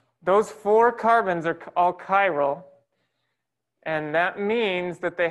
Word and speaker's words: chiral: i've got a box so cairo is spelled like that it's another one of those funny words that starts with a ch that sounds like just k let me uh so